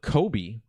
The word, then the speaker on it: Kobe: crash in memory now the name Kobe rhymes with Toby and this will lead